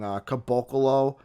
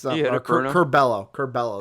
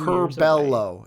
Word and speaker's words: Curbelo: Caboclo, I think is his name. It's Curbelo. That's it. Oh. Curbelo, Miller, and then obviously Kofi. Caboclo is a player. Yeah, Caboclo is a player. No, it's Mr. 2 years away from being 2 years Curbelo is how you say it.